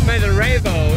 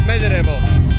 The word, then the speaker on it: Smederevo: You know, this is the town of Smederevo in American English way, but actually it's Smederevo.